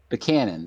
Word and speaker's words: Buchanan: Is that pronounced James Buchanan? Buchanan? Buchanan.